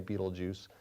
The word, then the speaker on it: Betelgeuse: There's the red supergiant called Betelgeuse. Well, I know, it looks like it's spelled Betelgeuse, but some people say Beetlejuice.